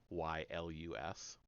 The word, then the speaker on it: Aeschylus: I don't know how to pronounce that one. Sorry, it's Aeschylus.